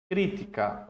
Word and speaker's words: crítica: É diferente de a crítica. Olha a diferença. A crítica, a pa a a a sílaba forte é o ti.